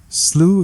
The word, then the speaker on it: Slough: not from the UK, Slough isn't pronounced like though, it isn't pronounced like through, it isn't pronounced like thought, it isn't pronounced like cough, and it isn't pronounced like rough, although sloughs are, and rough is, of course, a perfect adjective to describe it. No, Slough is pronounced like the British English plough, or plough, as the Americans would have it.